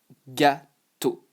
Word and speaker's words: gâteau: it is, you know, you just say O. And not O, okay? Not O. O. Really just a flat O. Not O, just O. So, if I go backwards, yes, this is just gâteau.